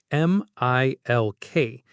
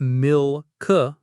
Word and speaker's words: milk: Think of the word milk, M-I-L-K. It's not milk with the light L, it's milk. The back of the tongue goes up for the L before the K sound, milk.